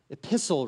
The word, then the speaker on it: epistle: today's scripture reading is another epistle reading kind of rhymes with thistle epistle reading that the